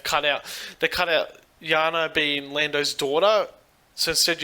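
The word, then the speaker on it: Jannah: character arc and a development for lando and jana or jaina or whatever her name is yeah it's it's it's jenna but i think it's pronunciation yeah i think that this movie as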